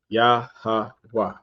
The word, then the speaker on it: Yahweh: A Y sound, followed by a H sound, followed by a W sound. Yahweh, Yahweh.